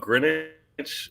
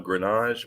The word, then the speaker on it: Greenwich: It's actually I grew up Greenwich, but I chose the French pronunciation of Grenache. But I actually Oh, use Greenwich. Grenache. Okay. Like fromage.